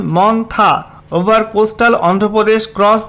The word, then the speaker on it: Montha: যেখানে সাবজেক্টে বলা হয়েছে severe সাইক্লোনিক্সম মন্থা pronunciation মন্থা over coastal Andhra Pradesh cross দা কোস্ট।